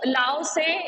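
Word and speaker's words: Lao Tzu: देखो लाओ से जब तुम पढ़ोगे तो तुम बोलोगे कि इसमें टी है, लेकिन यहाँ पे टी साइलेंट है, इसे पढ़ेंगे हम लाओ से, लाओ से।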